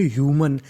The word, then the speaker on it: human: HUMAN इसे पढ़ेंगे ह्यूमन। HU का उच्चारण यहाँ पे होगा हमारा यू। क्या होगा? यू। याद रखिएगा कभी कभी हु होता है, ज़्यादातर हमारा MAN ह्यूमन।